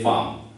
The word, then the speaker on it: femmes: though it is feminine, and femme you have added s, but you won't pronounce it, so it is les femmes.